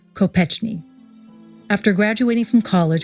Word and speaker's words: Kopechne: of coal miners and they pronounced their name Kopechne II after graduating from